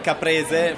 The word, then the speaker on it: caprese: Well, caprese for you would be like caprese salad, and robiola cheese.